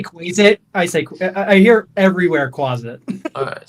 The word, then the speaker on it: Quasit: Anybody in chat actually know how to pronounce this? Is it Quasit? Quasit. Yeah, it's Quasit.